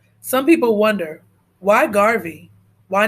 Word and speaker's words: Garvey: earphones and push play rhymes with Harvey some people wonder why Garvey why not Marcus so